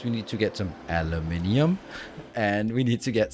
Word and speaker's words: aluminium: The second one was, why do you mispronounce aluminium? I don't. I'm one of the few people who live outside of the United States, and that's how it's pronounced around here.